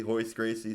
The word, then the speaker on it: Royce Gracie: Hoist Gracie starts with an R. Royce Gracie.